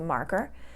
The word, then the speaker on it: marker: That pen is called a marker. Again, it has 2 syllables, marker, and the first syllable is going to take the stress.